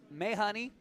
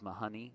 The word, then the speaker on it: Mahoney: from her six-year-old yeah so may honey we are mispronouncing his last name it is Mahoney money Mahoney can't even